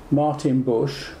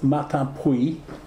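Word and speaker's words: Martinpuich: It's Matapui, but they call it Martin Bush until I've told them how to pronounce it, and then I say that jokingly because they now say it like that.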